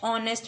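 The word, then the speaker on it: honest: ही dash ऑनेस्ट मैन य एच हमेशा silent होता है ऑनेस्ट तो मैंने क्या बोला था ए ई आई ओ यू इनकी आवाज आती है तो क्या लगता है एन तो इसे कैसे अपन साउंड कर रहे हैं कैसे प्रोनाउंस कर रहे हैं ऑनेस्ट कैसी ओ ओ की आवाज आ रही है तो क्या लगेगा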